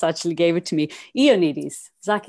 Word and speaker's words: Ioannidis: Zach Ioannidis, who's, and I'm sorry, I've actually pronounced that completely wrong. You just actually gave it to me. Ioannidis, Zach Ioannidis.